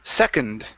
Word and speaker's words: second: I'll see here can't last word here is second instead of second with an own sound it's unde second second uh-huh give me a D at the end second second okay good